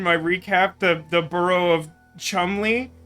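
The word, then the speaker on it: Cholmondeley: It's 19XDX, and, oh yeah, I forgot to mention in my recap the borough of Chumley, which is spelled like Chumundelinly or something. It has, like, 40 silent letters.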